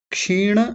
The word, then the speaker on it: क्षीण: पहला शब्द है क्षीण, क्षीण, क्षीण नहीं क्षीण। वृत्तेः या वृत्तेर ऐसा बोलेंगे, वृत्ते, वृत्ते नहीं वृत्तेर, भी जातस्येव या अभिजातस्येव, अलग अलग करेंगे तो क्या बनेंगे? क्षीण वृत्तेः अभिजातस्येव या अभिजातस्य जमा इव, इव।